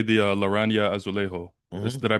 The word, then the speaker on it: Laranja Azulejo: and whatnot, but like let's just say the Laranja Azulejo. Hmm. Did I pronounce that correctly?